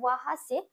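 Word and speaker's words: वहाँ: যে আমরা এটা জেনেছি ব যখন পেট কাটা থাকবে না, তখন কিন্তু সেই বয়ের উচ্চারণটা ওর মতো উচ্চারণ হবে, হর্ষ ও। তাহলে ব হয় আকার, যেহেতু এটা পেট কাটা নেই সেই জন্য ওয়াহা সে হবে।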